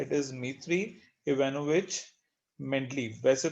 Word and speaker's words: Dmitry: ठीक है, यहाँ पे D जो है वो साइलेंट है. इट इज Dmitry Ivanovich Mendeleev.